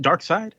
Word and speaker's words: Darkseid: Darkseid?